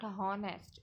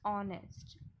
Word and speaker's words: honest: honest person it's not harnessed it's honest the h is silent and our again the